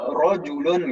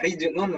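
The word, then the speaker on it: رَجُلٌ: Misalnya kata rojulun gitu misalkan. Rojulun dibacanya harus sesuai harokatnya rojulun, jangan sampai dibaca rijulun misalkan. Maka nanti akan berubah artinya.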